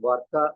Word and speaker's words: Barca: Now, I'm trying to review the play written by Calderón de la Barca, pronounced Barca in Spanish, who is one of the very great Spanish playwrights, along with ๊ viða.